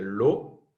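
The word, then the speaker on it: l'eau: Para decir el agua, se dice lo, se pronuncia como la letra O sola, pero se escribe así, E-A-U.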